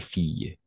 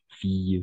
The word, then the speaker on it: fille: Au niveau de la prononciation, on va prononcer garçon, garçon, fille, fille. D'accord? Avec I. I, c'est un peu exagéré, mais la prononciation est I, d'accord? I, double L, on va prononcer I, comme fille, d'accord?